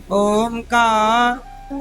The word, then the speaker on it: ओम: ओम का शुद्ध उच्चारण क्या है? ओम। आ बोलो, आ उ मा। अब तीनों को बोलना ओम ओम आ उ ओम। तीनों उच्चारण होने चाहिए, आ उ मा। आ बोलो, आ उ मा। तीनों को जोड़ा तो क्या उच्चारण बना? ओम ओम ओम। ये उच्चारण शुद्ध है, ओम।